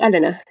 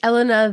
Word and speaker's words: Elena: the first part is is it Elena or Elena how do you how would you say her name I Say Elena Elena okay so it's Elena then and now and then